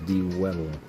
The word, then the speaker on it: Dwebble: It is Dwebble rhymes with Pebble.